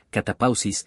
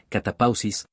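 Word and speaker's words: κατάπαυσις: Ahora bien, la palabra descanso aquí viene de la palabra griega, que en realidad no sé cómo pronunciar. Pero se pronuncia como si fuera, catapausis, y significa un descanso espiritual del pecado.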